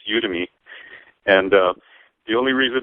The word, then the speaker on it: Udemy: you're the expert you got it right it's udem me and uh the only reason I figured it